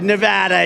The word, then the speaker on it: Nevada: we love it and you always have to say it correctly Nevada you Ain got a